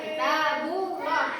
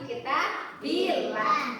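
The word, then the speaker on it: كتاب الله: Contohnya yuridillah, kita billah, jangan dibaca kita bullah, tapi kita billah.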